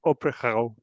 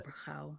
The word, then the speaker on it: Opyrchal: You have to say it like you're clearing your throat. Opyrchal. Opyrchal. Opyrchal, yes.